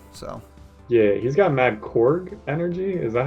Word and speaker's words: Korg: yeah, he's got mad Korg energy. Is that how you say it? Korg?